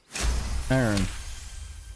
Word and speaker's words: Aaron: Aaron is two syllables. I'll die on this hill. And then it's like, yeah, the guy just doesn't reply. Yeah, how do you say Aaron? Aaron. Yeah, it's two syllables.